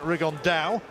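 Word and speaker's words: Rigondeaux: tattos talked about fighting rig on though or as he's correctly pronounced with the Spanish accent rig on Dao Chu absolute geniuses but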